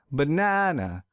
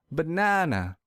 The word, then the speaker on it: banana: So to fix this, I will stress the second syllable real hard. Banana, banana.